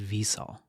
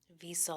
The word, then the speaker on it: Wiesel: yes, According to this, the correct pronunciation of his last name is Wiesel. Wiesel. I almost wondered if it was a V. Yeah, Wiesel.